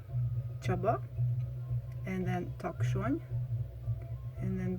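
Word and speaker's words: Csaba: lale there are two variations then another name chaba and then takshon and then burchu again the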